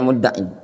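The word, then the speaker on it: مدعٍ: Fa innahu istidlalun sahih, walau idda'a mudda'in, itu bacanya mudda'in.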